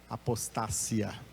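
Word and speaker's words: ἀποστασία: palavra da língua grega na língua grega se pronuncia apostasia não apostasia mas apostacia em grego a tradução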